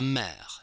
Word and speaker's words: mère: It's a very open E, like in the English word help. J'achète, help. La mère, help.